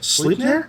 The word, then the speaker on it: Sleipnir: They just premiered a mini at Gen Con that's supposed to be, I'm going to pronounce it wrong, Sleipnir, the Norse horse god. Does anyone know what I'm talking about? Sleipnir.